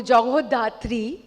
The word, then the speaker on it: Jagadhatri: Jagadhatri, Bengali में अगर बोलूँ जगोधात्री, being a Bengali, I would want to pronounce it that way, is जैसे show का नाम भी है, माँ दुर्गा का ही एक रूप है।